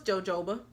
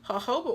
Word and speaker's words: jojoba: is Shea Moisture jojoba I thought it was jojoba and it's not so Haho but oil and I'm probably will